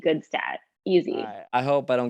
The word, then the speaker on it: Gutstadt: The actual pronunciation back in Europe would be Gutstadt, but over here in North America, we say Gutstadt.